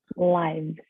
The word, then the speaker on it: lives: Don't forget to pronounce the S at the end because it's plural.